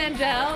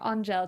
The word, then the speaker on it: Angele: I said it wrong, Angele. You better. I got to get that French accent, yeah. you know. You can also call me Angel, but there's an E at the end.